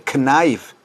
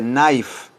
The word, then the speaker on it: knife: Vean cómo la K no se pronuncia. No se dice knife, se dice knife.